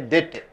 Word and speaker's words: debt: You should not say debit, you should say debt. Debt. D is not pronounced.